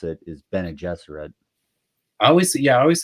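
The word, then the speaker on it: Bene Gesserit: aerate so and it is you say the bie jesser not the bie Jesuit or guess so I I listen to a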